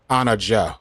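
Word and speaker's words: Anna Diop: It's pronounced like Joe. Okay. Anna Joe.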